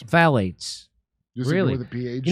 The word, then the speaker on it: phthalates: Phthalates. Phthalates.